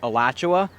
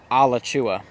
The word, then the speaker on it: Alachua: the whole drive here I was trying to pronounce it because I thought it was Alachua, but the correct way, at least according to research and Google, was Alachua.